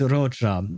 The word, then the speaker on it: Roccia: So, it is Rocha because I think I researched it beforehand in order to pronounce her her name properly.